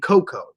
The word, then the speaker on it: cocoa: There are 2 ways people say it, cacao and cocoa. But did you guys know that technically both ways are actually the correct way to say it?